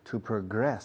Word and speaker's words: progress: To progress. Se acentúa la segunda sílaba. Progress. Cuando es verbo. Cuando es sustantivo, no.